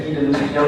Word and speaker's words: Guy de Lusignan: Ya, tulisannya begitu ya, Guy de Lusignan, bacanya Guy de Lusignan katanya.